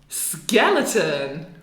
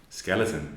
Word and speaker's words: skeleton: It could be A, it could be O, it could be O, and very often it's just because here we put the emphasis on skeleton.